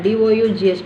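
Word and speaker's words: dough: Together you call D-O-U-G-H. But the G-H does not have any sound, is silent. Nut. So donut is open syllable. You don't have, that is the silent letters.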